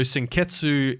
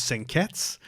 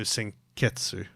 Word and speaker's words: Senketsu: So Senketsu is pronounced as Senketsu, which is like basically they've just taken the U off of it and assumed it's like the same as Des.